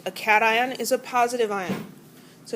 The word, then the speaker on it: cation: And it's pronounced cat ion and an ion, notation and anion.